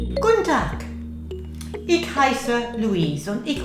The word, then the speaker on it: Guten Tag: Now you can hear a k sound at the end, Guten Tag.